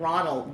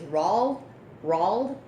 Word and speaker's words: Roald: That's the story that it's hard to pronounce his name, because when you think of him, I think of Ronald Dahl, but his real name is Roald Dahl.